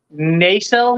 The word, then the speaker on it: Nacelle: nacelle why wait what nasal you mean is it naso I've been saying nacelle this whole time yeah it's actually supposed to be pronounced NASA my apologies I didn't